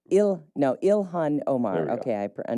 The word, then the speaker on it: Ilhan Omar: Um there is a resurfaced clip of Elon representative Elon Omar. Uh a member of the progressive known as the squad as we call them. Oh, Ilhan Omar.